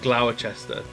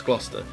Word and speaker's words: Gloucester: it's it's it's just it's like phonetically written like glower chester flower cester uh but it's gloucester that's what it is it's gloucestershire um and